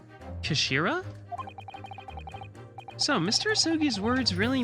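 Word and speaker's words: 頭: It's written head in Japanese, but it's pronounced Kashira, I believe. Kashira?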